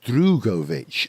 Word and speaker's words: Drugovich: say his name drugovich I think it's pronounced drugovich I think because I heard him say it once on an interview and he said drugovich not drugovich okay but he's Brazilian not